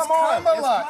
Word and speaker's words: Kamala: You said this we don't call you Nancy Nancy. It's Kamala.